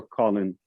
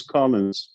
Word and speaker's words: Collins: Is it Collins with an S or Colin? No S or no Collins S? with an S. Because that's how you spell it. Most people call you Colin. Let's make a correction, everybody. He's Collins.